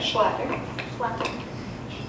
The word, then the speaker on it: Schlatter: Schlatter. Should have pronounced it for you.